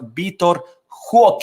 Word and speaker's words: Vitor Roque: Barcelona has filed officially the appeal for Vitor Roque, as apparently that's how it's said, pronounced in Portuguese.